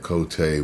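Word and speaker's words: Côté: I think that is Cote. I rarely have to say the word Cote spelled like that in English without the accents above the letters. It would just be coat.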